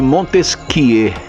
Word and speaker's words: Montesquieu: que um tal de Montesquieu e se escreve Montesquieu mas na hora de falar você fala muito esse que que é francês tinha um tal de